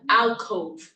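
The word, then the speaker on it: allcove: of Al Co yeah Al Cove like all Cove that's how it's spelled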